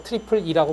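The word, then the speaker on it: IEEE: e가 세 개라서 트리플 E라고 불러요. 이렇게 뭐 보통 발음을 하는데 IE라고 하기도 하는데 I플이라는 말을 더 많이 씁니다.이라는 이라는 그 미국의 전기 전자 그 공학회라는 그 어 단체가 있어요.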